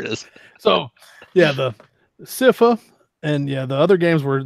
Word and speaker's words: Sypha: We got you meet Sypha.